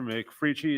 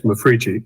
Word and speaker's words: Mafrici: McFrici? Is that correct? Am I pronouncing that correct? Yes, Mafrici, M-A-F-R-I-C-I.